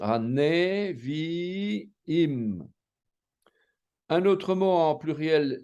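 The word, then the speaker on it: נביאים: qui est en dessous, il va être prononcé E. On va devoir l'entendre, quoi, hein, puisqu'on sait qu'un sheva peut être muet aussi, quoi. Donc on va dire Haneviim.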